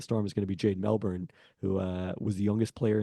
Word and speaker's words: Melbourne: is going to be Jade Melbourne, who was the youngest player in the league last year. Presumably steps into the backup point guard. It's pronounced Melbourne. I tried to drop the R there.